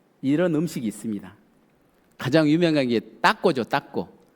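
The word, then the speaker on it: taco: 가장 유명한게 따고죠. 따고. 여기선 타코라고 그러는데 좀 발음을 강하게 하십니다. 한번 해 보실까요? 따고. 따고. 예. 따꼬라는 음식입니다.이 따꼬란 음식이 우리 가을에 잘 먹는 옥수수 가루를 잘게 부어서 전병을 만듭니다.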